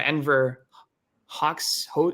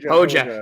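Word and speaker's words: Enver Hoxha: There's like it's the Marxist-Leninist Party of Canada, which is like I don't know how to pronounce this guy, Enver Hawks. How do you pronounce it? Hoja.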